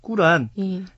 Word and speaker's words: 꾸란: 시간에 말씀을 해주셨죠 음 꾸란 자 우리가 이제 그 세계사 시간을 어렸을 때 배웠을 때는 이제 코란이 그 발음을 했고 또 마오메이 이슬람의 창시자다 굉장히 잘못 알고 있었어요 저희들이 또 저희들이 제가